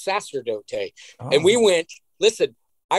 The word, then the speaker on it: sacerdote: i recorded it and i said it wrong because we thought it was sacrodote e diablo but it's sasterdote and we went listen